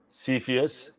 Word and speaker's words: Cepheus: So it's pronounced Cepheus.